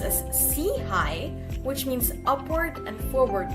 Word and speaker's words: SIHI: We are the Social Innovation and Health Initiative, SIHI for short, pronounced as SIHI, which means upward and forward looking.